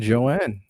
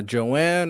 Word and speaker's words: Joan: values so without further ado let's bring in Joanne how's it going it's going good good to be here no problem no problem is it uh Joanne or Joan how do I pronounce it Joan